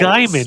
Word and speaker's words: Gaiman: I love like Jake brought up how Neil Gaiman just takes fantasy from like Why do all you different pronounce it levels. Gaiman?